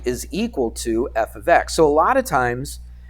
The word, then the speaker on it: f of x: do you remember that yeah f of x that's how you say it I'll put it in quotation marks that's how you say it it's not f x x it's not you know f is a variable and X is a variable um it's F ofx it's a function all right